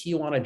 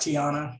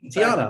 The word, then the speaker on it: Tiuana: So our guest now is Tiuana, and Tiuana is the president, founder, agent of the Agency. So welcome, Tiuana. Thank you for being here. Thanks. It's pronounced Tiana. Tiana, I'm sorry, Tiana.